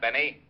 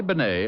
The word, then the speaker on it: Bennet: It's pronounced Bennet, not Benny. That idiot was calling him Rene Benny.